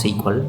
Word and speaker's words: SQL: is beginners from and we say we may pronounce sequel this is absolutely for freaking answer and it's